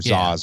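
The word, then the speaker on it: Zsasz: the cuts on him that's Victor zaz or Zas or how you want to pronounce it but uh he felt like they say zaz they call him zaz in the yeah he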